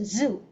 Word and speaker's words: zoo: Rồi, the lion is the most dangerous animal in this zoo. Zoo, ok? Âm z, không phải là du, không phải là du mà là zoo.